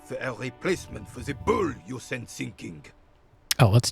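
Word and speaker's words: boule: We are still waiting for a replacement for the bull you sent sinking.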